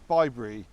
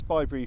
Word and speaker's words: ByBre: there these are actually bybre if you want to pronounce it that way so it stands